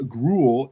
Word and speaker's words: Gruell: Uh, you know, it's easy that my last name is pronounced the same as a yucky porridge.